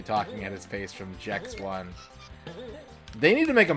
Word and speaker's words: Gex: The creator said he wanted it to be pronounced Jex. Yeah. I know he's a gecko, but that's too on the nose. His name is Jex.